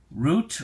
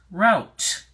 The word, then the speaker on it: route: look at that first the first pronunciation is root now root can also